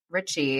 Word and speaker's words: Ritchey: as you hear I have Shannon uh Rich Richie is that yes okay Richie I want to make sure I pronounced your last name correctly um with me